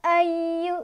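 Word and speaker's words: أيها: Cara bacanya dipanjangkan. Boleh 4, boleh 5. Ya, 4. Ya, ayu gitu ya. Ini seperti itu. Kemudian lanjut. Ayu, ya-nya agak ditekan karena ada tasdidnya ya.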